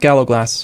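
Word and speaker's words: gallowglass: the galag gagay amazingly I think it's pronounced gallog glass which makes no sense to me at all there's no s g glass I know that's interesting way to pronounce i g that's that's what I've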